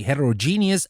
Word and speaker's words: heterogeneous: But for heterero we pronounce the rest genius and for homo we pronounce the rest genus. So we say heterogeneous and homogeneous.